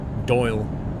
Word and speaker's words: Doyle: you pronounce Doyle Doyle it's a bit like saying royal except you don't pronounce the Royale bit so much you say Doyle you're just no door